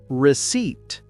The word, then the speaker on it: receipt: Receipt. The letter P is silent.